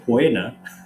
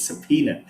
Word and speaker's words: subpoena: it's not puna or puena right it's subpoena so the o is completely hidden because it comes from